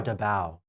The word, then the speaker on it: Davao: in Philippines yes in Davao is a devour Davao they pronounced which is an island off the Philippines